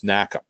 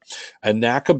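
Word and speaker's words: NACA: for Aeronautics or did the way it's pronounced is nakka nakka basically encouraged a number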